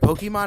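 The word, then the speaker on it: Pokémon: That's right, Pokemon has an accent on the E.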